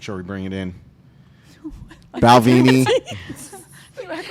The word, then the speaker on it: Balvenie: One of Pronounced Balvenie.